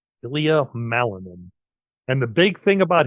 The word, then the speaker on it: Ilya Malinin: I'll let Rebekah give the name so it's pronounced right. Ilya Malinin. Ilya Malinin.